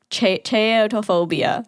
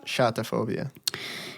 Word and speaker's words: chaetophobia: Chaetophobia. Saying it wrong. Shatophobia. Meaning long or... Greek word. It comes from the Greek word Khaite. Kate.